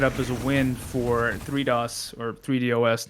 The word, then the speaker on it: 3DOS: I was thinking about it as a play on DDoS. Oh, yeah. So until someone tells me otherwise, I'll be pronouncing it 3DOS, because I like that.